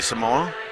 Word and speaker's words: Simon: I think Simon Ricard, or Richard, depending on how you pronounce it. It's interesting because obviously he's from the French side, so it is actually Simon.